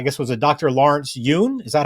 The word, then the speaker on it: Yun: Lawrence Yun?